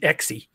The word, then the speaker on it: Exie: I had a great aunt named Exie, X-I-E.